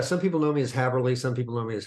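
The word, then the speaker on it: Häberli: It's actually pronounced Haberli. Haberli, excuse me. Yeah. I've been mispronouncing your name all these years. When I left home many years ago, everybody mispronounced it. And I thought, I'm just going to say Haberli because that's the way it's spelled.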